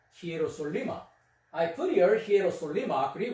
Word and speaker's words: Hierosoluma: Into Hierosoluma. English pronunciation is the Jerusalem. Jerusalem. But Greek pronunciation is the Hierosoluma.